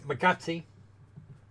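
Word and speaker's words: Magatsuhi: It's Magatsi.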